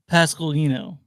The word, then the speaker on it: Pasqualino: His name is pronounced Luca Pasqualino.